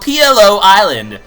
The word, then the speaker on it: Pi'illo: is called P Island I mean I'm going to call it pillow Island for the most part cuz that's probably how it's pronounced it would be like pillow it sounds really very Italian pillow Mama Mia P